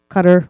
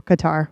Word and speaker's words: Qatar: And just so you know, it can be pronounced Qatar or Qatar. We heard it both ways.